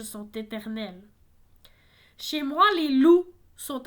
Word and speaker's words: loup: Alors, coup a un P muet également, donc loup également.